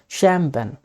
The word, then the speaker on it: champagne: Okay, तो chemist, यहाँ पर देखिए इसको क्या पढ़ेंगे, CHAMPAGNE, इसका प्रोनाउंसिएशन है शैम्पेन, इसका प्रोनाउंसिएशन है शैम्पेन।